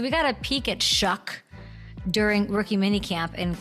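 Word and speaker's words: Shough: Shuck. Shuck. It rhymes with f- word.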